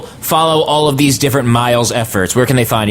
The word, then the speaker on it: Myles: can find me at Miles nigh and my name is m y l s n ye my first name is Miles like Miles Davis but spelled with a Y and my last name